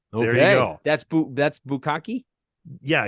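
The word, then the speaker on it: bukkake: one is it's b-u-k-k-a-k-e what is that that's pronounced bukaki what is that do you know what it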